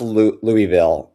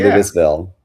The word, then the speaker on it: Louisville: Oh, it's pronounced Oh, it is pronounced Louisville. I was going to say Louisville. Lewisville.